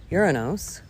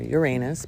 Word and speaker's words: Uranus: Taurus every month conjuncts uranos or Uranus both pronunciations are correct I say uranos on